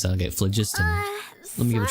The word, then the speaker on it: phlogiston: Oh, we call this a phlogiston chisleth. Good things happen if you infuse it with phlogiston. Phlogiston, that's how you pronounce that. Okay, phlogiston.